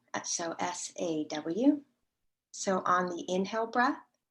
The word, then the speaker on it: Sau: is called hong sao it's spelled h-o-n-g and s-a-u but it's pronounced saw so s-a-w so on the inhale